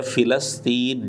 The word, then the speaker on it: فلسطین: اوپر زبر لگے گا۔ مرزے کی یہ تحقیق بھی بالکل الٹی ہے، اصل تلفظ ہے فلسطین، جیسا کہ لسان العرب